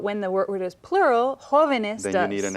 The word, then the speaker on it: jóvenes: Now, the word jóvenes, if we pluralize it, we added Another one more syllable.